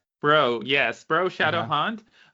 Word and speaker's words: BREU: A lot of people said brew, but it's fine. It's BREU. Bro, yes, Bro Shadow Uh-huh.